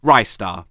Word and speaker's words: Ristar: know actually cares about this what's the correct pronunciation of this star character its wrists are okay ristar they wanted a mascot there'll be a guaranteed